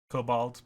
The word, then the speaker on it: kobold: streamers episode three um kabold kabold it's off to work we go i know it's um cobalt but it rhymes better if i say kobold is it kabald yeah